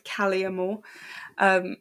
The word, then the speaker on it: Kalea Moore: Just for everyone who wants to pronounce her name right, it's Kalea Moore.